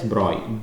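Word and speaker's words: Broglie: The debro wavelength even though it's spelled B R O G L I E, you pronounce it as Broy, Droy wavelength of a particle is related to its momentum MV by the Droy equation.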